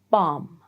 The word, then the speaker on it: bomb: 1, when there is MB, like in plumber, bomb, chrome.